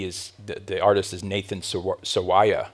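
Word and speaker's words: Nathan Sawaya: the artist is Nathan s SAA I believe is how he pronounces it s a w a ya a um there's so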